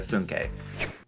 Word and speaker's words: Funke: ABCs of D&D, is Dragon Rider by Cornelia Funke. Funk. How do you pronounce it? According to Cornelia Funke, the pronunciation is Cornelia Funke, so that's what I'm going to be going with here.